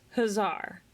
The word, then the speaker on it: Hussar: Okay, so you say Hussar, I always say Hussar. So it's Hussar.